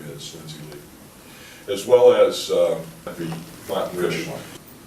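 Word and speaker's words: Lu: Lindsay Lee, her name is spelled L-U, but they tell me it's pronounced Lee, so people have criticized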